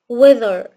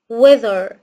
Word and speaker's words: weather: TH صوتها ذ، TH صوتها ذ، فنقول weather weather weather.